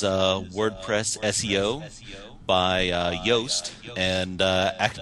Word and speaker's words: Yoast: WordPress SEO by uh yast and uh yast is actually spelled like it's j o o s like Juiced but WordPress